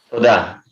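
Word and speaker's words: תודה: Toda.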